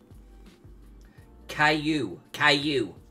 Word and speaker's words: Caillou: Caillou.